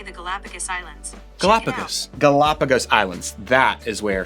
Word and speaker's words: Galapagos: Galapagos.